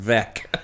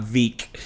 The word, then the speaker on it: Veeck: about me, it's that my last name is pronounced Veeck and not Veeck.